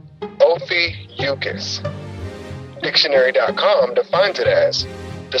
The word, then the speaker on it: Ophiuchus: First things first, the headlining constellation causing all the media buzz is pronounced Ophiuchus.